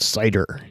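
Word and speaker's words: CIDR: address 0.101 this is also known as cider classless inter-domain routing pronounced cider and The Cider notation for this you could show the IP address and then a slash 16.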